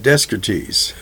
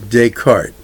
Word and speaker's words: Descartes: Rene descarte years ago I used to pronounce that desk geez anyway Descartes we don't in French we leave a lot of things out so what is the